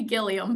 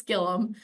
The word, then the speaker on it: Gillum: um which I understand it looks like it should be gillium but it's Gillum um so I was